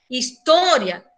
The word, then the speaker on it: história: História, a sílaba tônica, estou igual que no português. Só que o que acontece? La I e la A nossa aí do final, história, elas também não se separam.